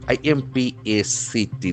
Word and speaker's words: impact: I-M-P-A-C-T. That is another beautiful noun. Impact. Impact. There are two syllables and accents for the first word, impact.